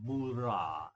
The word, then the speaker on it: mura: And to Japanese pronounce r little bit like a mix of r and l. So so it's like mi moola. A bit like something like l but a bit of r. hidden inside.